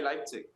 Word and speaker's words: Leipzig: I'm from Berlin, I would say Leipzig.